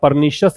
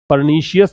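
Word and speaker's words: pernicious: और ये मैंने काफी बार बताया है कि जिन वर्ड्स के एंड में IOUS आता है उसका प्रोनाउंसिएशन आप इस तरह से ना करें, परनीशियस नहीं बोलना है, परनिशियस इसको बोलना है, ठीक है।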